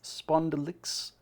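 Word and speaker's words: spondulix: Spondylix. I actually pronounced the X.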